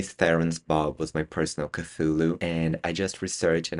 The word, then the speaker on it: Cthulhu: You guys probably seen the title that is Charlie Theren's bob was my personal cthulu. And I just researched and apparently the correct way to pronounce cthulu is culu.